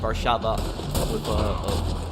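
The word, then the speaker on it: Warszawa: poland which is really called varshava it's pronounced with v is it hard for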